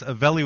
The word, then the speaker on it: Avelli: That's Avelli with two L's. So don't pronounce it the Mexican way, everybody, or you'll wind up in the wrong spot.